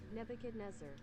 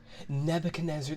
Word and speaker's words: Nebuchadnezzar: about this word ah this is a person pronunciation nebuchadnezzar nebuchadnezzar that's how you spell that okay okay or